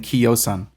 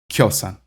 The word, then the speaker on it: kiosan: It's actually in Old High German too, but it's just spelled with an I, but it's pronounced the same way. Which I guess leads me to Old High German, kjosan, kjosan. Notice I'm not saying kiosan. I'm saying kjosan.